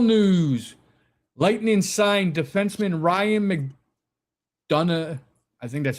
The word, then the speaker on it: McDonagh: Lightning signed defenseman Ryan McDonagh, I think that's how you say it. Yeah, McDonagh, to a 3-year extension, $12.3 million contract.